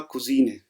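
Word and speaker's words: Cousin: और ये है कज़न मेल वाला, तो इसकी प्रोनाउंसिएशन हमने पिछली स्लाइड में याद की थी, वो थी कोज़न ना।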